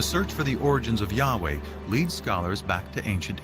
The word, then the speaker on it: Yahweh: and his name was these four letters which in English would be yhwh which we think were probably pronounced something like Yahweh but Yahweh only appears